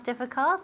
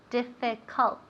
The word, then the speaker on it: difficult: And remember, difficult, how do we pronounce difficult? Let me hear you. Difficult? Okay, bien, good. Beatriz said it perfectly. Difficult, difficult. Remember, we never say difficult.